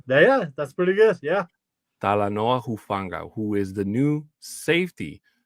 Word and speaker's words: Talanoa Hufanga: to say it better than I can uh tala Noah huanga you got it yeah that's pretty good yeah talanoa hufanga who is the new safety for the Broncos